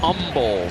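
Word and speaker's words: Humble: The kid from Umble, Texas. No hate. No H. They don't hate. No H. H is silent.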